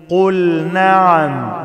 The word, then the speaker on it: قل نعم: وانتم وانتم داخرون قل نعم لازم انطق اللام كويس واظهرن لام فعل مطلقا يعني اي لام فعل لازم اظهرها ما اقولش قل نعم قل نعم يبقى انا دخلت اللام في النون لا ابينها كويس قل نعم قل نعم